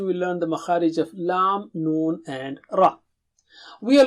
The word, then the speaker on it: لَ: Touch the tip of the tongue to the upper gums near the root of the teeth, as you see in the picture.